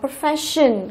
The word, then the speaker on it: profession: Tiếp chúng ta có profession, cũng là đuôi tion cho nên trọng âm rơi vào phát này.